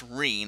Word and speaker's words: Rean: It's spelled R-E-A, and I thought it was pronounced Rain, but I'm pretty sure it's just Reen, like R-E-E-N.